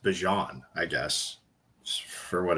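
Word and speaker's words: Bijan: It's actually pronounced Bjon, I guess, for what it's out for what it's worth.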